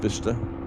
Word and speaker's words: Bicester: No, it's pronounced Bicester.